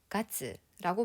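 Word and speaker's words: がつ: 몇 월 며칠 할 때 월은 일본어로 어떻게 발음을 했었냐? 가츠라고 발음을 했어요.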